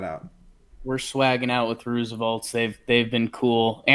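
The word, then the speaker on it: RSVLTS: allowed RSV LT s if you've seen that brand and you're not sure how to pronounce that it's Roosevelt's we asked them they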